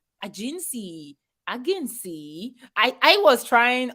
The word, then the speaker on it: AGINCI: at the front or a join or yeah a-g-e-n-c-y would have been less catchy yeah and more